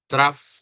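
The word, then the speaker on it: trough: The lowest point on the graph is called traff of the graph. No. So it is spelled t r o u g h but it is pronounced as traf not tr no it is pronounced as traff naririnig natin yung traff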